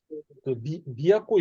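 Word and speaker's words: 都: 하나만 있을 때는 그 미야코라고 합니다.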